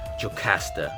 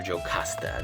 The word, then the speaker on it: Jocasta: and next we have marvel's jocasta or jocasta depending on how you prefer to pronounce it but looks pretty sick